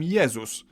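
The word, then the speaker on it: Jezus: favorite okay religious figure Jesus in Polish we call him yesus but if we were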